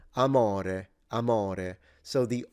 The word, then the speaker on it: amore: go accentless on this I would say amore amore the difference is not only the intonation but the o and the e are closed vowels so a mo rather than all right I don't know